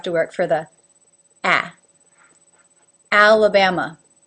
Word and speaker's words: Alabama: work for the AA alabama you can see my mouth goes ala Bama alabama alaska again there's 3